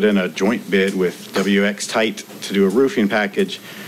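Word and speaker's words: WXTITE: WX Kite? Tight. W-X-T-I-T-E. And they pronounce it WX Tight because I asked.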